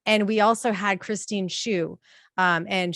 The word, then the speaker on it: Hsu: And we also had Christine Shu, and she had spelled it phonetically like a shoe. So it's HSU.